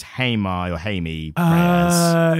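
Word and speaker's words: Jaime: Whereas, unfortunately, and I think it's as correctly pronounced, but we were doing it incorrectly on the episode, Hamey or Hamey, I think is how people refer to him. We said Jamie on the episode, but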